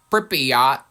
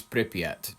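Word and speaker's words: Pripyat: It is Pryotat. It's Pryat.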